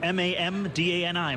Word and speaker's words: Mamdani: It's M-A-M-D-A-N-I, Mamdani.